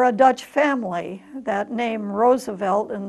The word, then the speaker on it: Roosevelt: Dutch family that named Roosevelt and the fact that the double-o is pronounced oh and not rue some people in the